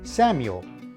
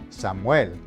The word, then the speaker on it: Samuel: If a word ends in a consonant, the emphasis is on the last syllable. Now, take this word for example. In English, you would pronounce it Samuel, emphasis on the first syllable.